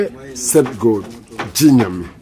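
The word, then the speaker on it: Gye Nyame: Jinyami. Jinyami.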